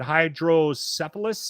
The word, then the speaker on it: hydrocephalus: He had hydrocephalus.